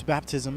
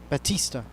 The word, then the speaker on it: Batista: one one count oh my correction is Batista but Batista Batista Batista Batista not baptism Batista and Strikes him out